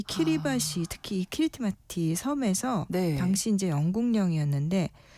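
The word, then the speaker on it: Kiritimati: 사실 그 앞서서 얘기했던 제일 동쪽에 있는 키리티마티 섬이라는게 크리스마스를 여기 길버트 제도였던이 지역 사람들이 자기네 발음 크리스마스를 그렇게 읽은 거예요.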